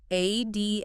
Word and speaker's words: admonish: Admonish. Pronunciation. Admonish. Stress on the second syllable. Mon. 3 syllables.